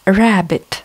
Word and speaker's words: rabbit: Rabbit, кролик, опять, да, в слове rabbit две буковки b, но читается только одна, а пишутся две.